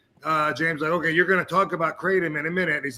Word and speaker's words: Kratom: It's Kratom. Kramen? What? That's how that. Yeah. Crayola. But they don't know. I can spell it, but I can't say it, bro.